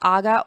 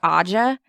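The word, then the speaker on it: Ağca: We have heard it pronounced Aga or Aja.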